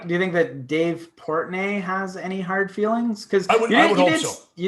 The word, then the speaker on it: Portnoy: And, but you sent me a video, and Dave Portnoy, that's how you say it, right? Yeah, Portnoy, yeah.